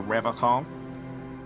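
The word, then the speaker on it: Revachol: But someone has to stay strong for Revcom. He pronounces Revaccom with a hard K, unlike other people.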